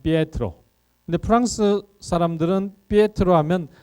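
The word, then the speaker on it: Pietro: 피에트로. 그래서 베드로라는 이 알 수 없는 국적 불명의 이상한 발음의 이탈리아식 발음은 피에트로.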